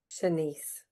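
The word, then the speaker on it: Shanse: Senise. Senise.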